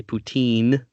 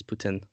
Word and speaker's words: poutine: very interesting one um it depends on your accent so it's a French word Putin but English people can't pronounce French words so they say poutine which makes me want